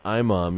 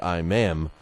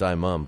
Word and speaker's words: Imam: Amir Imam was a guy that, and it's pronounced Imam, even though it looks like Imam. It's Imam. But what a devastating knockout that was.